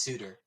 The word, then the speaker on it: Souter: no it was pronounced it was spelled souter but it's pronounced suitor oh he's got like